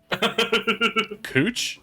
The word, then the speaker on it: Couch: it's pronounced like the street. Cooch?